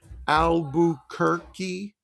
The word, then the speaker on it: Albuquerque: Now remember the Q and U followed by a vowel, it's the sound of K. It's a K, Like just a K. like the largest city in New Mexico where I grew up, I spent most of my childhood, Albuquerque. Those there are Uh, Q's in there, but it sounds like a K.